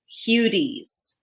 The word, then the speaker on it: Hudes: Yeah, but then you got to pivot and you got to go into like an Eastern European pronunciation, which is Hudes.